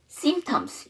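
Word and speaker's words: symptoms: 있을까요 씨피톰스 증상이란 뜻인데요 거기도 mpt기 때문에 피 발음을 안 하고 simtoms 이렇게 얘기를 하는 거죠 저랑 같이 한번 단어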